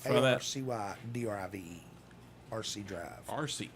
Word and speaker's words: Arcy: RC. Like Marcy without the M.